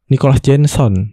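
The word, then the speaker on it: Nicolas Jenson: Bacanya Nicholas Jenson.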